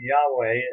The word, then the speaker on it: Yahweh: And that means that the Hebrew behind it is the name Yahweh, as it's usually pronounced. Some people have called it Jehovah.